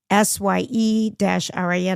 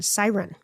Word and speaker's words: SYRN: No, it's called, because I'm just looking at how they ask us to pronounce it. SYE-RIN, siren.